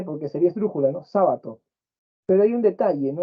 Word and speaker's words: Sábato: no o sabato perdón si algunos dicen sabato y ahí parece que dijera jabato no la cría del de jabalí pero es sábato ya sí Está bien